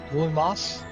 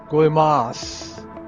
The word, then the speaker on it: Guaymas: from MSCO, Mexico, flying over Guaymas, G-U-A-Y-M-A-S, Guaymas, and then going to Ciudad Obregon, and I believe I'm pronouncing that correctly.